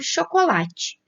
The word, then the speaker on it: chocolate: Nunca vai estar nas sílabas anteriores. Então, começando por chocolate.